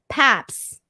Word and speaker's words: Pabst: Gerardo Alvarez says it's pronounced how it's spelled, Paps.